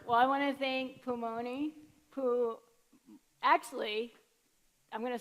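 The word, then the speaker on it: Pulmuone: because during the market, Pumu1 came by, and I told them that I've heard so many people mispronounce Pumoni, and I was like, they're not Italian, folks.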